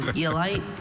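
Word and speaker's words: aeolight: Eolite? Eolite, that's the only pronunciation, right?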